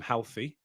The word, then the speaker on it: HLTHY: We actually spoke to Erwin from Healthy, which is actually a running Team brand.